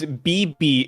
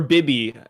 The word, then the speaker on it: Vivi: Vivi is BB in Japanese. Or Bibi.